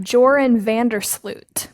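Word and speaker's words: Joran van der Sloot: that's why I'm like stalling um I have Jordan vandersloot yes and you pronounce it perfectly Jordan um was accused of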